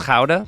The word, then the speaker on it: Gouda: Smoky Gouda chicken. Also, I used to live in Holland. It's pronounced kha, but I'm not going to do that to you guys.